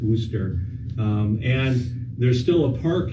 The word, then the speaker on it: Worcester: how you pronounce it w-o-r-c-e-s-t-e-r looks like War sister Worchester but I think they pronounce it ooster and there's still a